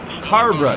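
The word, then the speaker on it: Cabre: We actually helped Harrison Burton get through past Haley Deegan and chase Cobra, but that's about it. Or Carbra. Carbra, that's how I was told to pronounce it.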